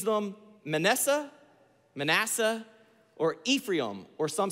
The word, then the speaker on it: Manasseh: plenty he has two children he names them manessa Manasseh or Ephraim or some say Ephraim Ephraim Manasseh and Ephraim in the proper pronunciation of those words and their names declare